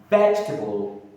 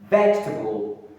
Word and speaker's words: vegetable: Vegetable. Vegetable. The second e here in the word is silent.